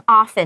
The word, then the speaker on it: often: 然后像 often 那个字，也有人会念 often，也有，所以那个 T 就是一个 hard T，但是它可以是不发音的，也可以发音发出来。